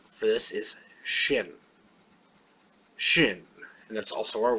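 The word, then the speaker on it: ש: is re re Street Shin Shin it's just like an English sh sh sha and our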